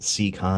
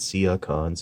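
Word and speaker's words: Seacons: to get your C Conn's and yes that's pronounced secon it's not see icons that some people do and on over to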